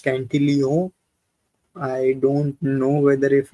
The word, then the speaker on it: Cantillon: that the Cantillon effect, the Cantillon word itself is French, so it is supposed to be pronounced Cantillon.